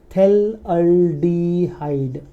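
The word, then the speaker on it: phthalaldehyde: P silent इसके अंदर, देखो थेल, पीएच साइलेंट इसके अंदर, थेल अल्डिहाइड, थेल अल्डिहाइड।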